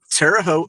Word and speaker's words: Terre Haute: So, I'm from Terre Haute, Indiana. Nobody knows how to pronounce this place. It's Terre Haute.